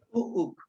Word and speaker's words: Puuk: La K me lo estás poniendo con una K glotalizada. Es una, como una C. Okay, que no suene al final.